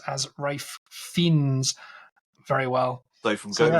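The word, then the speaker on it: Ralph Fiennes: p at me for not being able to pronounce Ralph fines as ra fins very well so from going forward every single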